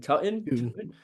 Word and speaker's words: Tuten: Tuten.